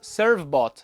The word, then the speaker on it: Servbot: Na pronúncia em inglês, Servbot.